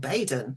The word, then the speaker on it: Baydon: And just up the road is a village that's called Badon. It's spelled Baydon.